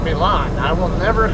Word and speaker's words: Milan: those Mysteries to be why the locals call it violin and not Milan I will never call